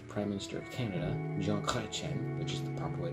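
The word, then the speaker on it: Chrétien: leaders Canada's 20th prime minister of Canada John Clen which is the proper way to pronounce it he reigned from November 4th 93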